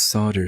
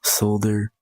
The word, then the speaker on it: solder: solder but it's not solder soldering gun apparently it just doesn't sound right to English speakers so it's solder so the L is silent for whatever reason but I don't get